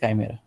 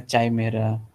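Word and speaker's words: chimera: एक से ज़्यादा इंसर्ट चला जाता है तो उसको बोलते हैं काइमेरा, ओके, ठीक है। आप अगर प्रोनाउंसिएशन थोड़ा डिफरेंट है, चाय मेरा, ची मेरा, जाने जो को, ठीक है।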